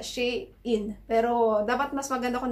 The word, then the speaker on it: Shein: So, hindi pala Shein yung pagkakapronounce doon sa online store na yon kundi Shein, which is She's in Style, kaya Shein.